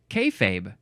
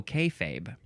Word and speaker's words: kayfabe: of 2023 the first one is is it pronounced kayfabe let's check let's we got to we got to check this yeah kayfabe k a y f a b e it